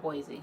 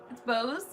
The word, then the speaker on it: Bose: No, I'm saying, is it not Boise? It's not Boise. It's definitely. I thought you were gonna make fun of me. I'm like, no, it is Bose, right?